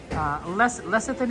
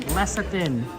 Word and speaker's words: lecithin: Lecithin is how you pronounce it? Interesting. Lecithin.